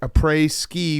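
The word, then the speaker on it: après-ski: Hitting the mountain a pre a app a pre ski rhymes with tea for a reason.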